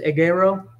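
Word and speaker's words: ἐγείρω: translations um risen is agaro it's one of the first words I learned how to pronounce because it's an egg with an arrow EG Arrow yes and it's rising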